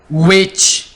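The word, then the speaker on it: which: Whisper, whisper, विच, एच से पहले डब्ल्यू आ गया।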